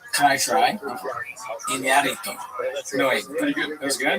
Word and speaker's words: Iñárritu: And Iñárritu, you have to say his name right. There's an accent on the name. Can I try? Iñárritu.